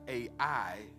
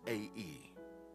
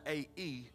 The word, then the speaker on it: Ai: And Joshua sent men from Jericho, although it looks like A-I, it's actually pronounced A-E. So if you hear me say A-I, forgive me in advance. From Jericho to A-E, which is beside Beth